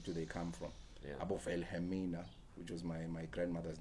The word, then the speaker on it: Wilhelmina: Abo Wilhelmina, which was my grandmother's name, I'm assuming it's Afrikaans because balong W, but you pronounce it as V.